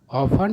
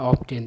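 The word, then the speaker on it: often: ऑफन या ऑफ्टेन दोनों उच्चारण सही है।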